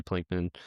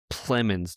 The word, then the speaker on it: Plemons: obviously it has Emma Stone and Jesse Pinkman, or sorry, Plemons.